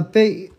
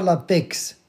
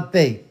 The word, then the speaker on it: paix: Et attention la paix il y a un x mué on prononce pas le x on dit pas l'apex mais juste la paix.